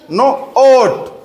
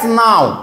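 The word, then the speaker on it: now: উচ্চারণ কেমন হবে না ও ডব্লিউ থাকলে একসঙ্গে কেমন উচ্চারণ বললাম আও তাহলে না আও না আও নাও ইয়েস নাও ওকে বলছে লিপি ইজ ড্যাশ নাউ নাও এই তো শিখে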